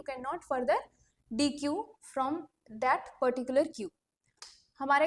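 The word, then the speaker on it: deque: फिर हमारे पास आता है introduction to डी क्यू। डी क्यू जो हमने देखा था वो इंसर्शन और डिलीशन था। यहाँ पे जो डी क्यू है जिसको हम डेक भी प्रोनाउंस करते हैं, बेसिकली इसको प्रोनाउंस जो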